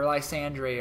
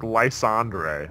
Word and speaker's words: Lysandre: Lysander's still alive, or Lysandre, or whatever, however you want to call I think him. I think his name is pronounced like Lysandre. Lysandre, I'm not sure.